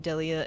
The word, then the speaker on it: Delia: So now it's the Japanese version of their names is are pronounced Deria and Lux. So that means that in English their names would be pronounced Delia and Lux.